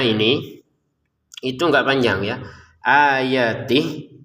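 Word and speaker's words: آياتِهِ: Ayatih itu enggak panjang. Jadi kalau kita sukun ya, kalau kita membacanya berhenti, ini terbaca sukun, terbaca berhenti itu enggak panjang. Ayatih gitu. Kalau digabungin baru panjang ya, 2 harokat.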